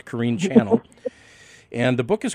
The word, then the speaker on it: Corine Channell: channel c-h-a-n-n-e-l-l i'm sure a lot of people pronounce that chanel but either way it's kareem channel and the book is called the road beyond